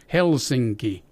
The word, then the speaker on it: Helsinki: I mentioned earlier that in every single word and every single name the first syllable is hit hard it's accent and heavily it's accident it's the first thing that you're here Helsinki mm-hmm so you you